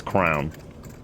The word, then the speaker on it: crayon: Also, they mispronounce crayon. It's crown.